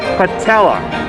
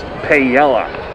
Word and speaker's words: paella: and a spanish style patella served with chorizo shrimp and rice that sounds really good my bad it's pronounced pa yela all right so i